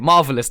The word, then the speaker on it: MRVLS: I nailed it. Marvelous. That is how you pronounce it, right? That's how you do it. Yeah, that's how you say it.